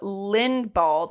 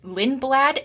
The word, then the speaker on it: Lindblad: And Red Bull applied for a super license exemption for 17-year-old Lindbald. Is that how you pronounce it? Lindblad. I think I'm putting in. It's Lindblad is the way you wrote it.